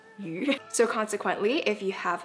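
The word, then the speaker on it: 鱼: It's also pronounced yu.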